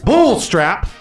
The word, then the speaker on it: Bullstrap: Bullstrap.